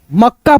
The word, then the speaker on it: मक्का: ऐसे मतलब जो शुरुआत वाला आधा क है उसको इस प्रकार से पढ़ा जाएगा कि उसमें अ का ध्वनि का साउंड बिल्कुल ना आए। नहीं तो आएगा उच्चारण का साउंड यानी अ का साउंड तो गलत हो जाएगा।